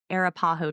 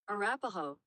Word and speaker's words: Arapaho: Many other Native American cultures later lived in this area, including the Ute, Cheyenne, and Arapaho tribes. What? Oh, how do you say that? Arapaho.